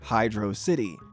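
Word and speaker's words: Hydrocity: the pronunciation was and according to him it's Hydro city as for me personally I think it's pronounced hedr cidi this is one of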